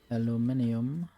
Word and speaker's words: aluminium: I need more aluminum aluminium depending on where you pronounce it and who might be angry about it there's some aluminium I